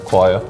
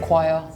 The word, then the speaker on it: choir: choir choir but yeah it sounds like a cue right yeah like acquire the end we said choir it really does not sound like it's spelled definitely not yeah but I can see why people would say this differently it helps when you say the ah at the end choir so the next word